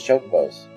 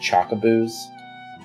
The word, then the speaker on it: chocobo: vegetables and even raise chocobos. When I was a kid, we called chocobos chocoboos. And so occasionally I'll accidentally say chocoboo, even though I know the pronunciation now.